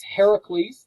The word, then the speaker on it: Heracles: He meets Heracles. That's another name for Hercules. That's a Greek way of pronouncing Hercules.